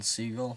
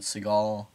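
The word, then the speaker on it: Segel: um let's just say i'm pretty sure you pronounce it jason siegel but is it seagal it must be seagull and then paul rudd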